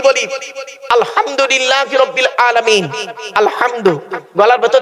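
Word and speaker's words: الحمد لله: আলহামদুলিল্লাহি রাব্বিল আলামিন। আলহামদু। গলার ভেতর থেকে হেটা উচ্চারণ করবেন। আলহামদুলিল্লাহ।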